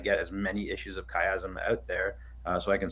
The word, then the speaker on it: Chiasm: chasm or what is it so it's it's chiasm for those that's here so so chasm is